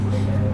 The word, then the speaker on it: xinaneo: Modso thali - Rs 200, xinaneo (pronounced shin-aa-nee-o) - Rs 500, tisreo